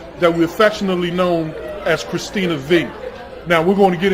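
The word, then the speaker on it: Kristina V: your hands together for my guest miss model Christine Navi now you have to give me did I pronounce that correctly Christina V yes Christina B now does the V stand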